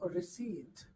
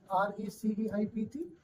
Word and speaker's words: receipt: The next line is no receipt. The right pronunciation of this word is RECEIPT. Yes, receipt.